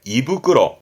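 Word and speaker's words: 胃袋: 그러니까 같은 얘기로서 위를 말할 때 이부끄러, 그 자루 봉투를 후끄러 하는데요. 이부끄러에서 위장을 말할 때 이부끄러 쓰기도 하고, 요게 위장, 발음은 이처 다 같은 말들입니다.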